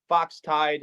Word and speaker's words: Foxtide: Foxtide, exactly how it's spelled and said.